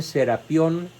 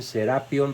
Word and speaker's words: Serapion: Algunos dicen Serapión y otros dicen Serapion, pero yo no encontré el acento en ninguno de los documentos que analicé, así que vamos a